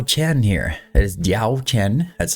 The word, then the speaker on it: Diaochan: so we have d Chen here it is diao Chen that's how it's pronounced it's not really a Chan it's more